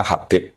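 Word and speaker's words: حبيب: Itu di harakatnya kitab itu ada yang nulis khubab yang benar. Oh nggih. Yang benar itu bacanya habib.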